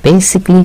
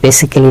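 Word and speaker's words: basically: বেসিকলি এটা দিয়েছে এই কারণে উচ্চারণটা মনে রাখবেন, এটি বেসিক্যালি না বা বেসিক্যালি না, এর উচ্চারণ হচ্ছে বেসিকলি।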